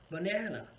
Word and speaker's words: banana: syllable tip number three learn where to put the stress on the right syllable in a word for example the word but now if a native speaker would say it it's going to be like this banana so in that word